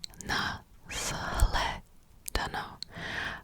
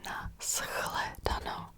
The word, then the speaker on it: na shledanou: Basically, here, normally, if you would read it exactly as it's written, you would say na shledanou, but nobody says that. Okay, it sounds really unnatural. It's really difficult to pronounce. So there is a pronunciation change, and you say na shledanou, shledanou.